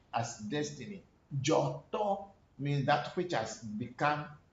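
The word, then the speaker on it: Dzoto: can write it J-O-R-T-O-R, who create a proper pronunciation, Joto, or D-Z-O-R, T-O-R. Joto means that which has manifested itself into being.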